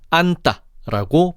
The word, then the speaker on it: 안다: 그래서 안다라고 하지 않고 안따라고 발음하지.